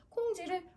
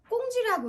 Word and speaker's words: 콩쥐: 근데 우리 친구가 읽다가 콩쥐를 꽁쥐라고 읽어요. 그럼 너 콩쥐 모르니?